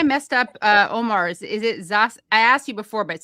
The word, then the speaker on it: Zahzah: Is it Zahzah? I asked you before, but say it once more. It's Zahzah.